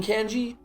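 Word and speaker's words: congee: __ ] sorry yeah writing is pronounced kanji like Genghis Khan so kanji not kanji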